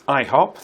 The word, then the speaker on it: IHOP: The answer is it's IHOP. That's how it's pronounced.